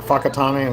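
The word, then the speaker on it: Whakatāne: Like Fakataname and Fangare, the wh is the F sound instead of wh that's how they say it.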